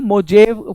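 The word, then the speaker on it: Mojave: मोजावे (कुछ छात्र पढ़ेगा, अमेरिका में 'J' उच्चारण नहीं करता, 'हे' का उच्चारण (करता है), इसलिए यह यह मोजावे रेगिस्तान है।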